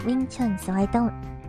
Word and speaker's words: Wing Chun: So in Mandarin dialect, it's pronounced Yongchun. But the wing comes from Cantonese, which is more common, I guess, when or is not more common.